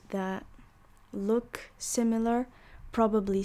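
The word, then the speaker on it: ثاء: of you and then the fourth letter is tha right like thermometer set right like thermometer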